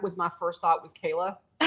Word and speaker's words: Calah: Is it Kala? Kayla. It's Kayla. Kayla. Okay. Okay. It's a lot more simple than it looks.